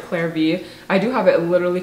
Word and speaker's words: Clare V.: The next thing is this tote bag from, I think it's, the brand's pronounced like Clare V.